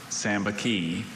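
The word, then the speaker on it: sambaqui: Sambaki. Sambaki. Are there any alternate pronunciations? No, just the one. Sambaki.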